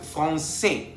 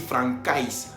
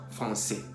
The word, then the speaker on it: français: C avec cédille tiene la pronunciación S. Por ejemplo, français, para no decir francais.